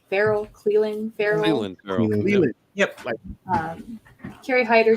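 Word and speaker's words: Clelin: Cleveland Farrell? Cleveland. Yep. Kerry Hyder. Cleveland without the V's.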